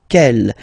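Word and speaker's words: quel: So interrogative here you get the masculine form and it's kel means what.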